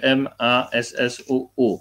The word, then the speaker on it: Massu: w ogóle, de Gaulle, czyli z generałem Massu, pisze się M-A-S-S-U-U, Massu.